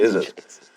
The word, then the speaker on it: Izzit: I booked you for, you never corrected me that it's actually DJ Izzit.